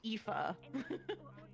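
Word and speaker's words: Aoife: the Alfie it was it was a o i f e but you know that's you know supposedly pronounced epha EPA which we're not going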